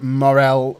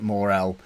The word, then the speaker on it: Morel: Rodriguez edy sir and Morel Morel in midfield someone tried to tell me how to pronounce it I'm not going to say it more L that just seems wrong it's Morel you'll be more room